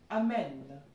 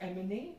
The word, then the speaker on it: emmener: Amen. Not emmener. The pronunciation will be amen.